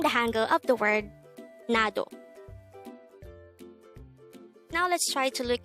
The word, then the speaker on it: 나도: hango word number 168 this is pronounced as a two-syllable word the first syllable is na second syllable is to pronounce it with me the word nado simply means me to